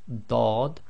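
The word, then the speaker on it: ض: Group 10 is the letter dad on its own, so it's like a thick D, dad, and with the sukoon it will give the sound of ad, ad, ad.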